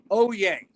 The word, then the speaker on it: Hollier: It's pronounced Oye. Oye. Well, okay. Because the H that might French, not super surprise me, because the double L's. And the H is silent.